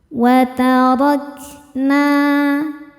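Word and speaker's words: وَتَرَكْنَا: Ro dibaca secara tafkhim karena harokatnya di atas yaitu harokat fathah. Maka ro dibaca dengan tebal. Watarakna.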